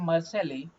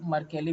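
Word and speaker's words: Mercalli: तो Richter scale and मर्सेली scale, मर्केली भी कहीं कहीं कहा गया है, स्केल आर यूज टू, वो डिपेंड करता है प्रोनाउंसिएशन पे।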